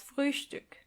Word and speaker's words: Frühstück: Breakfast is das Frühstück. Das Früh Stück. Which means the early piece. Das Frühstück. And try to pronounce the ö umlaut.